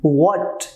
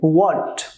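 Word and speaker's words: what: व्हाट, H silent होंगे, व्हाट, when, which, where, who, whom, whose, why, how, ये 9 हमारा WH family है।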